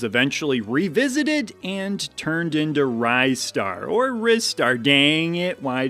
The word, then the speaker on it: Ristar: But I finally decided I wanted to just call it Ryar because it sounds like Rising Star and that makes me feel good.